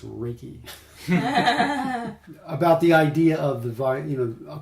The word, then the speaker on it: Reiki: It's not Reiki. It's Reiki.